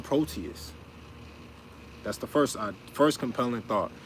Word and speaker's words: Proteus: Proteus, 3 syllables. Pro, first word. Te, second. Us, third.